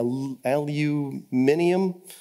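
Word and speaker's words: aluminium: and left tenant and I'm not really sure where you put the extra syllable in a Lu minium which is five and we do it as four but those don't matter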